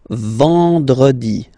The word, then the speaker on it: vendredi: Then en, nasal, and it's en. So remember, vendredi, vendredi, vendredi, vendredi.